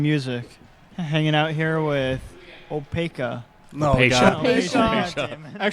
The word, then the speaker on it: Opacia: a shirt that says it's pronounced Opacia, goddammit. It's the phonetic pronunciation of our name, just so no one gets it wrong.